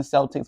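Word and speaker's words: Celtx: told me to use is called Celtics not the Boston Celtics but it's kind of spelled the same but with a x at an end now if you type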